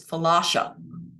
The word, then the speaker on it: Philautia: Or like the Greeks would say, they're Philautia. I wrote it down phonetically. I have to keep looking at it because I keep wanting to say falafel. And it could be that I'm hungry. So it's Philautia.